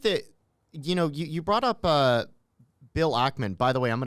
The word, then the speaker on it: Ackman: So I think that, you brought up Bill Ackman. By the way, I'm going to correct you. It's Ackman, not Ackman.